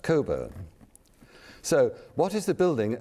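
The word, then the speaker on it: Cockburn: And it is indeed pronounced Coburn.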